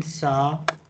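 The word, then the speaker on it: ث: Just at the moment, remember this, that in Sa, we pronounce the alphabet Sa by touching our the tip of our tongue to the bottom of front upper two teeth.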